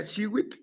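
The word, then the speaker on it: xihuitl: Eh, por lo de Teo, si lo traducimos como energía, entonces energía azul también se pronuncia Shiwit, Shiwit, porque la turquesa es azul.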